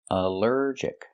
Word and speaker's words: allergic: Allergic is three syllables. Allergic. The stress is on the second syllable. Allergic. Allergic. Here the al is not pronounced all but pronounced uh like in cup and up because it's not stressed.